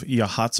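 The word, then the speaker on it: Yachats: coast just south of yhats Oregon spelled yit if you're trying to find it on a map it does not look like it should be pronounced that way right uh we're going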